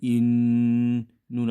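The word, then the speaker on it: إِنَّا: আলিফ নুন জির ইন, নুন আলিফ জবর না, ইন্না। এখানে নুনের উপর তাসদিদ তাকায় ওয়াজিব গুন্না হয়েছে, তাই ইন্না। আর নুনের উপরে তিন আলিফ টান তাকায়, ইন্না।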